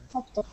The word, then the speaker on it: subtle: Subtle. I'm sorry? Subtle. Subtle. Okay, let me find that. Yeah, it's actually pronounced S-U-T-T-L-E.